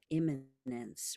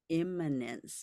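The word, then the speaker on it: immanence: wisdom this is about imminence which is spelled I am m a n ce imminence not imminent like coming up soon or eminent like important right but imminence meaning the spirit the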